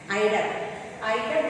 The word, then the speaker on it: eider: Eider ducks means it's a kind of a sea duck. Eider. It's to be pronounced as eider.